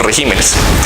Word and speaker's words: regímenes: Régimen es una palabra esdrújula. Entonces, cuando se le pluraliza, tengo que cambiar el acento de sílaba. Lo digo en los regímenes.